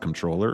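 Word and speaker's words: comptroller: I believe it's actually just pronounced controller. Yeah. Like you got a controller.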